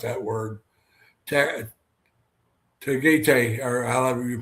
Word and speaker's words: Tagaytay: I'm not going to try to pronounce that word. Tagaytay, or however you pronounce it, Tagaytay.